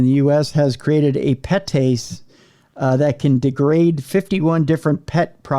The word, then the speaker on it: PETase: One enzyme in particular, petase, I can pronounce that because it's PETase. Petase. That's like the rich part of that. Like you have pate, you have petase.